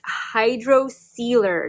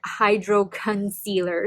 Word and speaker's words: Hydrocealer: been pronouncing it wrong it's hydro sealer not hydro concealer so my apologies on